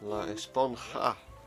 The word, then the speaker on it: La Esponja: Actually, it's pronounced Esponja with an H sound. La Esponja.